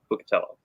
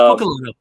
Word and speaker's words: Buccellato: I'm gonna say Buccatello. Buccatello. No, it's Buccellato. No, Buccellato. Buccellato. Yes, it is Buccellato.